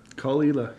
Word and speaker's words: Caol Ila: Isla we're gonna be taking a look at kalila call ela which I pronounced incorrectly a couple episodes ago sorry we're